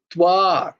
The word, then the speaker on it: ত্বা: ব্রজ, অহম, অহম, হ্যাঁ, দেখো এখানে তয় বয়ে আঁকা আছে, হ্যাঁ, তো উচ্চারণটাও সেরাম হবে, ত্বা, ত্বা, তয় বয়ে আকার, ত্বা, তা হবে না কিন্তু, তয় বয়ে আকারটা হবে ত্বা, অহম ত্বা, এখানে ত্বা